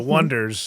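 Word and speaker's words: The Oneders: That thing you do by, I'll say it properly, the Oneaters, the Wonders.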